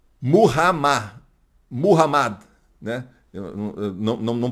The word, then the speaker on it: Muhammad: Quando você lê assim, por exemplo, Maomé, Maomé, esqueça, você está lendo em português ou em espanhol, que é Mahoma, você está lendo em outra língua. Se você lê na língua árabe, é Muhammad, Muhammad, né?